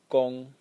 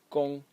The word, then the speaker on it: 工: The left element over here is pronounced kong and it means work.